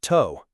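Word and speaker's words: tô: Let's begin with Burkina Bay meals to pronounced toe.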